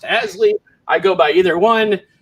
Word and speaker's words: Haseley: me at twitter at hasley looks like it's spelled hazely but it's pronounced asleep i go by either one and i am